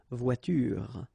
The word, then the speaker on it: voiture: The last thing that you will hear is this r, voiture, voiture.